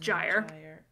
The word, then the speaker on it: gyre: spiral oh yeah turning and turning which is pronounced gyre how do you know it's pronounced dryer because